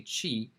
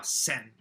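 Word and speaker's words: 千: instead prancing a chi she pronounced it the japanese pronunciation which is sin she is a chinese pronunciation it's sin is the japanese so she said that your name is now sin which means a thousand you know so anyway so you should know sin and chia pronunciation for that kanji it's a thousand hey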